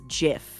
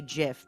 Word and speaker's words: GIF: it can't wait okay the creator claims is jif so i will say jiff because it's the proper way to say it why what do you